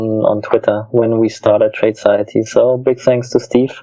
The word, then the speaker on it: Tradeciety: Tradeciety. Is it okay? So it's trading society all connected together.